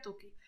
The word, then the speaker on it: Tukey: Se suele pronunciar Tukey.